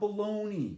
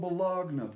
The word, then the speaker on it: Bologna: all of this bologna it's it's not baloney you're full of baloney it's called balogna b-o-l-o-g-n-a i can't even spell